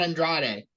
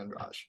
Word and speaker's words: Andrade: oh yeah all right it's not Andrade I just look I'm not the best at pronouncing names so I'm not one to talk but it's Jessica and Raj so anyway um very